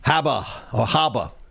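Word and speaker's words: Habba: Haba.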